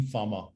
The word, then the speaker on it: Fama: of him already is this person called eugene farmer it's spelled fama this guy wrote a paper in